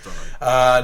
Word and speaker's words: Dari: I think is how you say it, and Dari. Okay, I think it's Dari. Dari, okay. It's Dari.